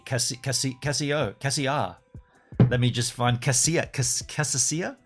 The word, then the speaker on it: Cassia: It's literally spelt like Casio, but the last letter is an A. Cassia.